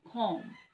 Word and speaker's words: comb: We also have one comb. Okay, there's no sound for B. Okay, silent B is comb.